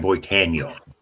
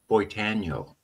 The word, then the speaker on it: Boitano: Brian Boitano.